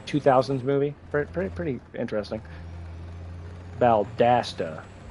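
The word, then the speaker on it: Valdosta: Valdasta, not Balda.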